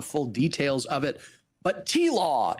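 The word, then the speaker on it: TLAW: I don't know the full details of it, but T-Law is how they are often pronounced.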